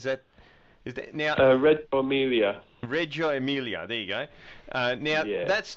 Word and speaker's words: Reggio Emilia: in northern Italy I'm probably not going to pronounce this properly which is sad because I'm Italian but Reggio emily is that is that is that red Emilia Reggio Emilia there you go now that's not far away